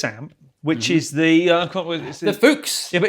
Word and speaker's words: Fuchs: Fuchs.